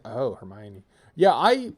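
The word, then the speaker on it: Hermione: i people people thought it was it was herone until they learned it from the film it's like oh hermion yeah I it's one of the things where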